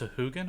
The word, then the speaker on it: Sahuagin: Actually, it's pronounced Sahuagin, apparently, but no one says Sahuagin.